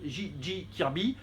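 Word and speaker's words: J.J. Kirby: c'est une couverture de J j Kirby ce n'est pas Jack Kirby c'est JG JJ Kirby même on dit parce que le J se prononce g en anglais vous le savez et si s'appelle juvon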